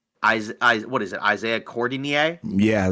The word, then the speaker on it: Cordinier: seven rebounds um Isa what is it Isaiah cordinier yeah it's literally it's pronounced like for's name but cordier yeah yeah cordier yeah he had 16 points